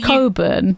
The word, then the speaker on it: Cockburn: Cockburn. Yeah, Damien Cockburn. Which is yeah. pronounced Now, in the Coburn. Coburn. Yeah, in the UK, we pronounce it Coburn.